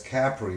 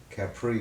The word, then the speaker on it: Capri: And So, then, so who taught you to pronounce it as Capri, which is the correct way, instead of Capri, which is the way Oh, most? they didn't let us get away with Capri, not for 1 second.